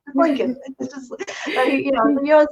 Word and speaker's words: Lincoln: but whenever he said Lincoln he always pronounced the second L it's like lincol it's like that's the one thing like you know Dad it's Lincoln know you always like